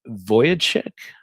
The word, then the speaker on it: Vujicic: I believe his name is pronounced Nick Vujicic.